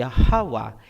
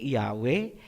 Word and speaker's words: Yahawa: Ang pangalan ng Ama ay Yahawa, hindi Yahweh, hindi Jehovah, hindi Ahaya, hindi Yahuwah, at mas lalong hindi Jesus Christ. Lahat yan ay Babylonian Masoretic na bigkas.